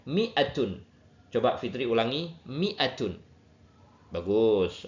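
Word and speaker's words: مائة: Miah bisa biasanya ditulis dengan mimnya pendek atau mi dikasih alif sama tapi membacanya tetap pendek. Miatun.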